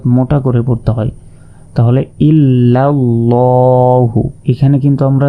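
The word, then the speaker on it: إِلَّا ٱللَّٰهُ: তাহলে ইল্লাল্লাহু এখানে কিন্তু আমরা লা বলবো না। এই বিসমিল্লাহি এখানে জের থাকার কারণে লা বলেছি। আর এখানে জবর থাকার কারণে ল এভাবে উচ্চারণ করব।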